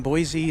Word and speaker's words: Boise: Boise rhymes with Joyzy.